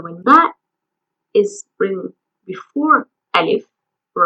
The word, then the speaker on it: ألف: first lesson, which is the first Arabic letter Alif Alif Written from top to bottom "Alif" is the